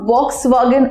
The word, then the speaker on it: Volkswagen: Well, এই কোম্পানিটার নাম অনেকেই শুনেছে, কিন্তু যে উচ্চারণটা অনেকে এটার করে থাকে সেটা হচ্ছে Volkswagen. Now it's not Volkswagen or Volkswagen, it's actually Volkswagen.